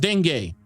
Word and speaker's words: dengue: Dengue or dengue or dengue. Now that's pronounced dengue, or the Zika virus.